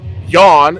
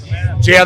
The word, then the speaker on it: Jan: Been texting Yawn, as he says his name is pronounced. I thought it was fucking, what I called you? Jan the Man, because it's spelled J-A-N.